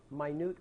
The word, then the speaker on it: minute: order well it's actually that's what everybody says a minute order but let's say it correctly it's a minute order minute the word minute means small very small very small right in this case it means small rather than very small Okay the reason what